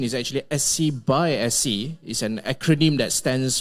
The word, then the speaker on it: SCxSC: uh some may ask whether it stands for scxc or SC by SC so the the actual pronunciation is actually SC by SC is an acronym that stands for synergistic collaboration